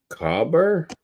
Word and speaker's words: cobber: You pretty much say it like it's spelled COBBA. Cobber. COBBA? Yeah. They take out the ER as well.